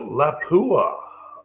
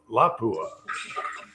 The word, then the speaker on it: Lapua: So, Laoua, well, no, Lapua.